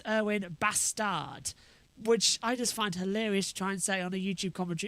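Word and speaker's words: Erwan Bastard: But even though it's spelt how it sounds, the French pronunciation puts 2 S's instead of the 1. So it's Erwin Bastard, which I just find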